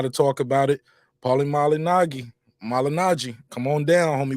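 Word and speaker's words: Malignaggi: the proper way Paulie malinagi but I think he just accepted Paul and malignant I used to watch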